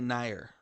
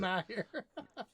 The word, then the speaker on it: NieR: I'm going to say Nier, just because that's the simple way to pronounce it. Nier.